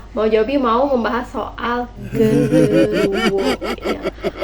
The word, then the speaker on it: genderuwo: Ya, Mama Juabi mau membahas soal genderuwo ya. Atau yang dalam bahasa Jawa itu sering diucapkan dengan genderuwa.